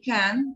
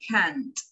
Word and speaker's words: can't: Porque si yo digo no, they can, parece que dijera can. No, they can't. Al final es la T que debe de escucharse.